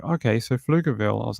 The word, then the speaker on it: Pflugerville: And then it just said, just say it without the P. And I was like, okay, so Pflugerville.